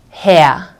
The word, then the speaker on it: Herr: So this R, this R, this R, and these two R's will be pronounced like A, okay? The German A, okay? So sehr geehrter Herr, okay?